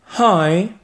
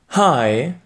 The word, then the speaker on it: hi: Hi. Hey. Alors, fais bien attention à bien prononcer le H qui est un peu aspiré. Réécoute encore une fois. Hi.